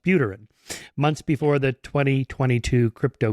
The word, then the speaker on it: Buterin: prescient profile of Vitalik Buterin, I think it's pronounced Buterin, months before the 2022 crypto crash.